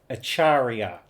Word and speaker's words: Acharya: Acharia. I think that's how you pronounce it. Let me look up a pronunciation. So, let's listen to this one. A chariot. Acharia. Acharia.